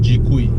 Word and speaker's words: GKUI: X 70 is using the name for the infotainment system is GK you've I and everyone just pronounce it as G qui well I have no